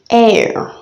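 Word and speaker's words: heir: have air air and air the difference is that you know the hitch is actually silent air and air one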